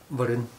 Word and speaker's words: Varun: Varun.